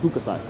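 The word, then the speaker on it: Hokusai: second favorite painter is hukusai i might be mispronouncing him i think his his name is pronounced hookasai the japanese painter who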